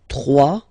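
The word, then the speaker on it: trois: 3. Final s not pronounced.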